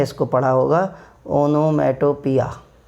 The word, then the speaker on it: onomatopoeia: बट the correct pronunciation of this word is, listen to it carefully, ओनोमाटोपिया, ओनोमाटोपिया, ओनोमाटोपिया, ओनोमाटोपिया। What is this? Onomatopoeia.